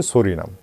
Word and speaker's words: Psorinum: আমি প্রত্যেক দিনের মতো আজকেও একটা নতুন ঔষধ বেছে নিয়েছি, সেই ঔষধটির নামটা আগেই বলে দিই, সরিনাম, ইংরেজিতে PSORINUM, সরিনাম, এটার উচ্চারণ হচ্ছে সরিনাম।